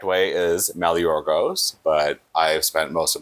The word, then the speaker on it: Maligeorgos: So everyone asks me this all the time, and the correct way is Maligeorgos, but I've spent most of my life with the anglicized version being pretty familiarized with everyone, and that's Maligeorgos.